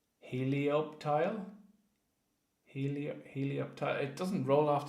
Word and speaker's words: Helioptile: Just hard to pronounce. The P and the T, like right beside each other, is not easy to pronounce.